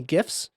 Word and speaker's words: gif: when i record any gifs yes it's pronounced gif it's not jiff like the peanut butter i don't care you're